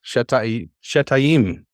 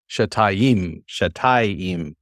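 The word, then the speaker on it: שְׁתַּיִם: Yes, Shetayim. Very nice. It's not an easy one to pronounce because most people try to do Shetayim, and it's not it's Shetayim.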